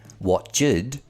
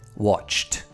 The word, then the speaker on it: watched: It's common for learners to mistakenly use the id pronunciation for words that should end in a t sound. We don't say watched, we say watched.